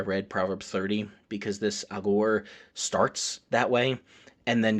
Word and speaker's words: Agur: Whereas Agur, and I am not saying Al Gore, a lot of preachers in English will say Agur or Agor or something like that. Hebrew pronunciation would be closer to Agur.